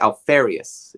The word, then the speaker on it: Alfarious: obsessive in crafting like alfarious it rhymes with nefarious his whole life is